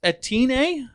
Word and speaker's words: Etienne: Travis Etienne, I think is how you say it. It's Etienne.